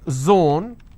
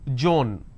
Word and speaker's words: zone: For example, if I have the word zone, they pronounce this as Joan.